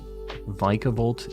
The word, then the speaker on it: Vikavolt: on vikavolt vicavolt yeah please don't tell me it's vicavolt vicable oh my God stop it why is it Vic what is the like vikavolt sounds so much cooler vikavolt vicavolt is in the anime oh God stop it